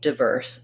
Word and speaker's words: diverse: difference here is that it's going to be stressed on verse versus divers is going to be stressed on the die syllable so people do say diverse with the eye diphthong diverse um but it's the dye is going to be shorter and the verse is going to be longer also in diverse it's like